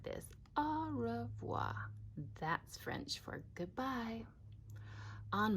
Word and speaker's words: au revoir: fans au revoir you say it like this au revoir that's French for goodbye on my door I